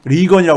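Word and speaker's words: Regan: 레이건하고 이름 철자가 같아가지고, 예? 같게 부른다고 해가지고, 다르게 발음을 이제, 그러니까 수정한 리건이라고 있습니다.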